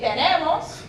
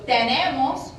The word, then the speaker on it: tenemos: So if we take tenemos, these E's and the final O would raise. So tenemos, we have, would sound more like tenemos, tenemos.